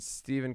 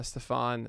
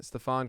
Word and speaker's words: Stefan: right so diamondbacks joakim joaquim soria okay and steven crichton uh stefan stefan crichton okay look at this it's amazing every single team pronunciation guide it's pretty awesome um why did